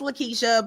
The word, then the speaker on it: LaKitia: welcome my special guest Woodard and please tell me if I got your name rags I'm not probably butchered it up you are perfectly fine my name is pronounced Lakeisha but I I'm used